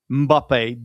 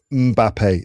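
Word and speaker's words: Mbappé: It's It is Mbappe. That's actually how it's supposed to be pronounced. It's not Mbappe. As some people say, Mbappe, which I always think makes it sound like M is his initial.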